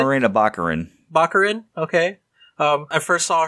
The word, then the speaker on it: Morena Baccarin: read but Vanessa played by the ever beautiful marina a mcaren sorry if I pronounced correctly Morena Baccarin Baccarin okay I first saw her in the